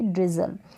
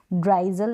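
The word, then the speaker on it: drizzle: ड्रिजल means बूंदाबांदी, जो हल्की बूंदाबांदी होती है उसको बोलेंगे ड्रिजल, ड्राइजल नहीं बोलेंगे।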